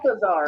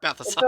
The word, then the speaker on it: Balthasar: Balthazar. It's Balthasar.